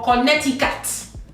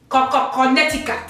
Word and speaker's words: Connecticut: that is not in the Nigerian's dictionary is Connecticut. Ask your parents if they are Nigerian to say this word, and it would produce error. But when they try it and they get it, it is Connecticut. Connecticut.